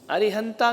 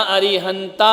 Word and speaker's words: अरिहंत: ना अरिहंता होता है ना अरिहंते होता है। कई क्या बोलते? अरिहंते मंगलम, अरिहंता मंगल। ताते तू ता नहीं लगाने का। समझ में आ रहा? शुद्ध उच्चारण करो, अशुद्ध नहीं। अरिहंत मंगलम।